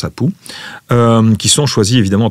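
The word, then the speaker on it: apu: Alors, le roi s'entoure de quatre apou, ça se prononce apou.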